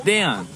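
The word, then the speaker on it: Daiyan: It's not Dion. It's Dayon. It's Dayon.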